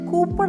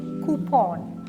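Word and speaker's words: coupon: വൺ സിഒ യുപിഒ എൻ കൂപ്പൺ അല്ല കൂൺ stress ചെയ്യുന്നത് ഫസ്റ്റ് സിലബിൾ ആണ് കൂപ്പൺ repeat after me കൂപ്ൺ next word is എം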